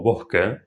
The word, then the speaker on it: bosque: La S aspirada suena un poco similar a la H en inglés, pero más suave.